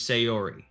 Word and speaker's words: Sayori: So the chick on the left is Sayori. Sayori, okay.